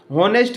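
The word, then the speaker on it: honest: होनेस्ट मैन पूछा है तो हिंदी का उच्चारण इसका ओ से आता है क्योंकि एच साइलेंट होता है।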